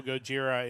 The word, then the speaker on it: Gojira: Obviously, if you don't know, Gojira is the the Japanese pronunciation for Godzilla.